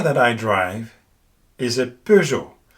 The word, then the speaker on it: Peugeot: This is quite difficult for native English speakers because they tend to say Peugeot instead of Peugeot. That's because the sound, that's the EU here, does not have an equivalent in English.